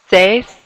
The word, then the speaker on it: seis: Notice you kind of hear those sounds now. E, I, seis.